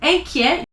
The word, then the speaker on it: inquiet: Inquiet, at the end of the word, you don't pronounce it.